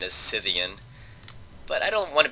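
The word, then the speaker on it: Scythian: with a K and I believe that has a hard K pronunciation in Greek but I I guess in English we the correct pronunciation is cyan but I don't want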